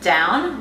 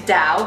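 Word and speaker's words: Dão: from a region called Dao actually when I was going to bow is vertical actually pronounces down like you're going down but let's just say it's Dao because it's Dao and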